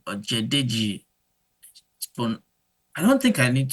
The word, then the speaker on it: Ojedeji: So to pronounce my name is pronounced. That's my first name, and the surname is Ojedeji, Ojedeji.